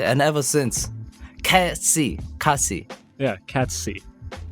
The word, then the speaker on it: Kacc: Yeah, Kacc. So it's like cats, like the cat, and then C with your eye.